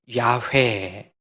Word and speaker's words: 야훼: 하나님이니까 여호와가 무슨 뜻이에요 애후화 히브리어로 애후화라고 하는 겁니다 영어로 영어 이니셜로 그대로 이렇게 바꿔서 ywyhwh 야훼 여호와가 야훼로 발음이 돼요 그래서 여호와가 야훼의 하나님을